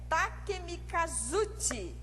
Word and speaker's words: Takemikazuchi: A pronúncia é Takemikazuchi e Takeminakata, pelo controle das ilhas da costa de Izumo.